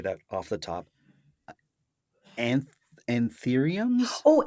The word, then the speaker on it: anthurium: Anth Anthuriums? Oh, anthuriums.